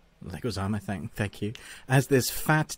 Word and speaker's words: Leguizamo: How do you pronounce his name? Leguizamo. Leguizamo, thank you.